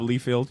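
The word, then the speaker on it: Liefeld: it out for yourself pronounce my name wrong and all that but it's all good it's Rob leefield all right I'm not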